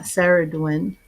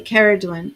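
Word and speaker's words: Ceridwen: It's not Saradwin, which it looks like.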